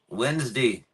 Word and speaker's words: Wednesday: easy to mess up there's really no other pronunciation of uh of Wednesday There's different ways you say it now in North Carolina and in Australia people say my name wednesy so in North Carolina you go man I went to school with Wednesday 13 that's the north North Carolina way to say it the